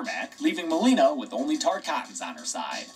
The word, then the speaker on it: Tarkatan: Joining her in side-swapping this creepy dead guy's air mech, leaving Melina with only Tarkatans on her side. And yes, it's pronounced Tarkatan. I got it wrong in the last video.